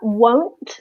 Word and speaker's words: won't: And one way I think of it is that won't, so will not, I tend to make a longer sound.